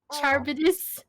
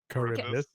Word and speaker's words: Charybdis: Charbidus. Sarvidus, sorry. Charybdis. Charybdis, I was gonna say. I can't it's not pronounce Charbidus.